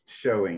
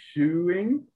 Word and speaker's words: shewing: told you can actually, it's pronounced showing. You're right. If you were to do a literal, it would be shoeing, but that doesn't really exist.